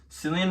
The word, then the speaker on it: Cillian: to mind was Cillian Murphy is how you pronounce it. Cillian Murphy.